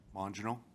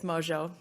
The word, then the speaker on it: Mojo: So, Commissioner Mongino, did I pronounce that correct? No, but it's okay. It's Mojo. Mojo, thank you.